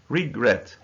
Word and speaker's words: regret: Admit, permit, prefer, occur, regret. So there are two syllables. But the second syllable is stressed. So we say regret, not regret.